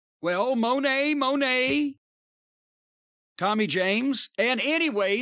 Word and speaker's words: Monet: goghs and the monettes you always say his name it's monet that's not funny that's the way you say it well monet monet tommy james and